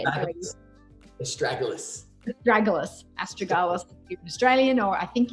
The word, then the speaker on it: Astragalus: So Astragalus, how do you say it again? I can never say it very well. Astragalus.